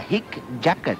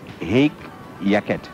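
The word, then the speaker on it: hic jacet: to get back to the word the correct pronunciation of h i c j a c e t a hick jacket no it's in fact egg yaket yaket that is what it said it's a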